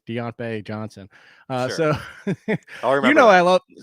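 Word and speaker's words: Diontae: you know i love do you say it right now that you're on the show chris it's deant bay because he's out my bae so you gotta get that now that you're going forward it's deontay johnson uh so you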